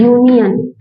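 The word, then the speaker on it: union: लगा क्या है वावेल लेकिन प्रोनाउंस क्या होता है यूनियन है ना यूनियन तो यहां पे भी य सुनाई दे रहा है आपको तो इसलिए हमने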